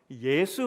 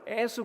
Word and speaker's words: 예수: 예수 발음이 잘 안 돼요. 애수 그럽니다. 애수. 혹시 아시나요? 그 전라도 분들은 예수를 애수라고 합니다.